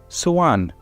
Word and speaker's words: soğan: But we also have another word called, let me say, soğan. Soğan. Now, soğan means onion, and it is actually S-O, yumuşak A-N. So you don't pronounce the G, you prolong the E after the yumuşak.